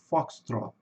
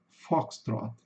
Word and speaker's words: Foxtrot: E no inglês britânico é com sonzinho de o mesmo. Foxtrot. Fox trot.